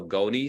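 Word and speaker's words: gonys: that red on the bill is called a goni spot and this one in the center here has a pretty big gony spot the gonis is spelled g-o-n-y-s um and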